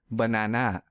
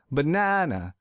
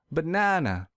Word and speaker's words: banana: program here's another example let's say I pronounce this word as banana this is incorrect because I don't stress the second syllable so to fix this I will stress the second syllable real hard banana banana now this sounds